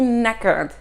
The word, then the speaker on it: knackered: Être crevé, ça se dit to be knackered.